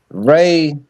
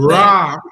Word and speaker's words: Ra: but here's the thing, Ra Wavy. Here's the is the thing though. sun. It's not When you even look, Ra. It's pronounced Ray.